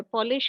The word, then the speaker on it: Polish: Now polish and polish ये दोनों same है बट प्रोनाउंसिएशन अगेन डिफरेंट हो रहा है. पॉलिश का मीनिंग होता है